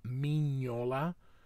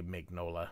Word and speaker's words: Mignola: So I know that he pronounces it Mignola, but I just say Mignola because that's how it's spelled.